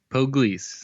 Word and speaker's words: Poglese: Poglese.